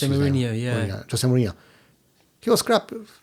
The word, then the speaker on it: Mourinho: Mourinho, that's how it's pronounced. Jose Mourinho, Jose Mourinho.